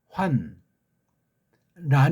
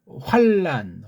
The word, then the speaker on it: 환란: 잘 안 되는 건데 환 란 있지 않습니까? 노래하다 보게 되면 또 뭐 노래가 그냥 그이 비트가 심해서 그냥 빨랑 해주는 이게 환난 활 이걸 니은자가 아니고 리을자로 하는 그런 발음을 그냥 아무런 생각 없이 해치우잖아요. 환란 환란 환란 환란 이런 거 정확하게 받침도 끝까지 하면서 그다음으로 넘어가가야 되죠.